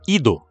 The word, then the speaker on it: id: Porque o jeito japonês de falar id fala ido, né?